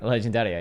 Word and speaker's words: Legendaria: Legendaria. Legendaria, yeah. That's exactly how you say it in Italian.